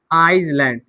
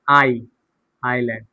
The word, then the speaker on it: island: For example आइसलैंड, ISLAND, तो आइसलैंड नहीं बोलेंगे, आइलैंड बोलेंगे। क्या बोलेंगे, आइलैंड।